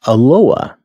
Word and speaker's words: Eloah: want to look at aloha now you can see on the screen it's spelled e-l-o-a-h it's Aloha that's the best pronunciation I'm going to do